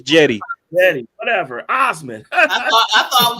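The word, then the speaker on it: Cedi: His C is silent. His name is Jetty.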